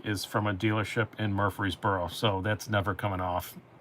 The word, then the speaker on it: Murfreesboro: of nash of nashville we would say murfreesboro but you guys say murph borough and every time you